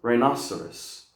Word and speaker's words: rhinoceros: This one is rhinoceros, rhinoceros. Now here we got a soft C, okay? So the soft C normally happens after an I or an E, okay?